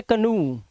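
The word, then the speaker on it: canoe: लेकिन एक्सेप्शन में देखो, जैसे इसे ओ ई लास्ट में है लेकिन इसे ओ नहीं पढ़ते, इसे पढ़ते कनू, ऊ की आवाज, और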